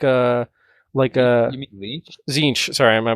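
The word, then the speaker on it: Tzeentch: Violence, even Sneech, right? Even he is more of like a You mean Leech? Zinch. Sorry, my pronunciation.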